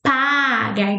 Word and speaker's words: pagar: It's not pegar. It's pagar.